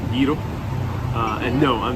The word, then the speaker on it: gyro: So, in America, of course, we always pronounce it gyro, like a gyroscope. But here, it's pronounced slightly different, gyro.